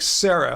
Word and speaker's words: Syrah: wondering okay so sarah syrah says no pronounce it like sarah okay well from henceforth